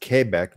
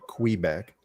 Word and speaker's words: Quebec: just so similar both Frenchmen from kebec it's pronounced kbec not Quebec is it cold there I think I can